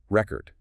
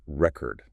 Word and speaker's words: record: Another great one is record, the noun, like a music record, a historical record versus record, the verb to record something, to record a song.